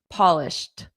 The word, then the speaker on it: polished: So this ed d is pronounced as a soft t. Polished t. Polished.